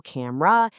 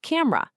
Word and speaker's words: camera: You've got the more formal, three-syllable camera, and then you have the faster way most of us probably say it, the two-syllable camera.